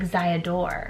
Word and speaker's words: Theodore: In Germany, if you say your name is Theodore, they'll pronounce it like Ziadore.